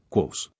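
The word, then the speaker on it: Kvothe: Me llamo Quote, que se pronuncia, Quos.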